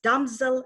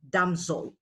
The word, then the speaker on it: damsel: of the word damsel it's damsel and not damsol putting on my other